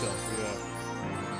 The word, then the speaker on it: Cherche: It's pronounced Chell.